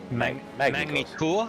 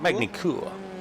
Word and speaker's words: Magny-Cours: That's how you pronounce it, isn't it? Magny-Cours. I think it's Magny-Cours. Magny-Cours. Need the French accent.